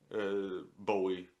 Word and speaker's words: Bowie: Bowie, however you pronounce it. Bowie is the proper pronunciation.